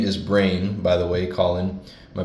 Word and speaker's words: Breign: His stage name is Breign, by the way, Colin, my best friend. His stage name is Breign, but it's spelled Breign. So it's like rain, like like terrain or like rule or something.